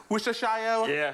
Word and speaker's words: Worcestershire: It's Worcester sauce or whatever. But you don't pronounce the shire.